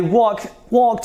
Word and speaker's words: walked: Okay, this is not walked, this is walked. So whenever you pronounce what, you sound like a native speaker.